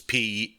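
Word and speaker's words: Pequot: Yeah, the Niantic Eastern, the Nipmuc, the I don't know how to pronounce these. It's Pequuot.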